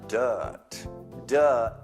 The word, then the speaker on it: dirt: Then the dirt. Don't pronounce the R.